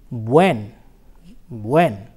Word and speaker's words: buen: Se pronuncia, it is pronounced buen, buen.